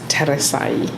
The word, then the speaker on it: Teresa: um as you mentioned my name is teresa that's how you pronounce it status i mean or